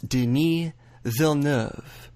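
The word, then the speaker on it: Denis Villeneuve: prisoners and arrival that's Deni V that's two syllables not three as people like Jake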